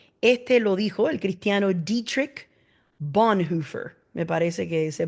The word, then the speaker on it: Dietrich Bonhoeffer: Este lo dijo el cristiano Dietrich Bonhoeffer, me parece que se pronuncia. Dietrich Bonhoeffer.